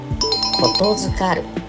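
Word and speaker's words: 言付かる: 正解はことづかる、人から伝言を頼まれることです。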